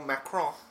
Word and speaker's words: Macron: But, so apparently, the French president, Emmanuel Macron, because you don't say the N at the end, apparently.